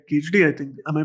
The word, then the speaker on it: Kedarnath: But you've also broken labels by doing amazing you know, movies like Kedarnath. I think am I pronouncing it right? Yeah. Yeah, Kedarnath.